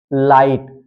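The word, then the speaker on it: light: लेकिन एक कंडीशन है जब जी एचटी साथ में आएगा तो हां पर जी एच साइलेंट रहेगा यह ध्यान देना है जैसे जैसे है लाइट लाइट में आप देख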